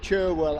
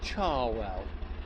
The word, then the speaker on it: Cherwell: I was told that it's Cherwell outside of Oxford, that's the way it's spelled, but in Oxford it's Charwell.